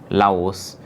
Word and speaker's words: Laos: And most of Thailand was actually divided to make way for a new country, Lao, which later became known as Laos, as it is pronounced in French.